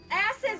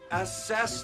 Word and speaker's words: assess: Ass is the window. Okay, stop. Stop. What? It's assess the window, not ass is the window. You put the wrong emphasis on the wrong syllable.